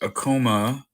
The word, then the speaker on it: Acoma: It's like, oh, the doctor says, then come, so like, a coma, a coma, a coma.